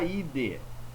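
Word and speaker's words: -idae: Só que se escreve idai, mas se fala ide. Fonema AE no latim nós falamos e, ide.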